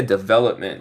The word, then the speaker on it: development: So el P es muy suave. Development. Development. Development. Ya, el P es casi mudo, pero sí dice development.